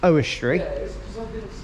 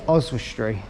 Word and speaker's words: Oswestry: station to oswestry which Brandon thought was pronounced oh history but it's oswestry Oz as in like short for Australia Oz or Wizard of Oz Oz were Street so yeah that's how